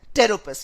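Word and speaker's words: Pteropus: Power का पी इज फॉर टेरोपस, which actually has P silent.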